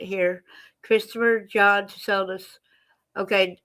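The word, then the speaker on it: Tsoulos: Christopher John Soldus. Okay, the T is silent.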